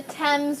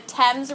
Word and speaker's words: Thames: It's actually, we pronounce that the Thames River. Okay, we pronounce it the Thames River.